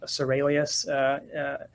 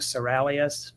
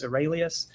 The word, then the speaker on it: Seralius: And for viewers, again, the last name is pronounced Seralius. Every now and then people think Seralius, but it's Seralius.